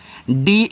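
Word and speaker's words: day: ए वाई है तो ए की मात्रा तो डी ए वाई को पढ़ते हैं डे।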